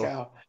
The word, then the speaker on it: Glasgow: Not Glasgow. Glasgow. No, not cow. No, you said it right the first time. You said it more right the first time. Glasgow. Glasgow. Ignore the W. W is irrelevant. We don't bother with them.